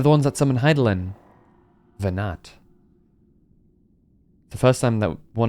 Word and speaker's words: Venat: Venat. Their discussion did seem to imply as much, yes. I cannot say I have ever heard of this Venar before. Oh, Venar, my bad. The T is not pronounced.